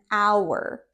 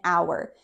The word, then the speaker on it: hour: And it is this word an hour. An hour. This word starts with a consonant, but it has that vowel sound because the h is silent. So, an hour.